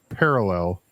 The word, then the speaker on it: parallel: But yes, parallel. The emphasis is on the first syllable Thank you. and not the third syllable.